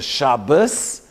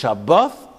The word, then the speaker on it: Shabbat: There's no TH in German and Yiddish. So there's a Shabbos. It's not this, it's Shabbat, or the Shabbat. So the Sfardim only say Shabbat, but really there's two.